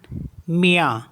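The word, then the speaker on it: mien: मीस होता है योस एम आई ई एन मिया मिया मीस होता है माइन आई एन डी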